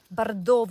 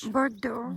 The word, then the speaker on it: Bordeaux: Bordov, not sure how to say it in English. Bordeaux.